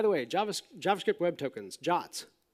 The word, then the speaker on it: JWT: way JavaScript web tokens jots JWT pronounced john i know i didn't they never asked me these things either I would have probably come up with something really more accurate but terrible to pronounce like twit or something right but jot is just what it's called so so this gets